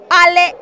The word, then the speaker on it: Ale: Sprite coca-cola supes Ginger se pronuncia así Ale ofrezca en su Nueva